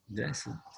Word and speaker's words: dressed: ED is only after T or D sound. Only. So dress. Dress. The sound is S. The final sound is S. So I pronounce T. Dressed. Dressed. Dressed. Dressed. There is also a very good movie. The name is Dressed to Kill.